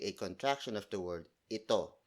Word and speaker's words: ito: It's actually a contraction of the word ito, spelled as I-T-O. The reason why I taught the contraction instead of the full word, it's because it rolls off the tongue better. So instead of saying, ano ito, you say, ano to.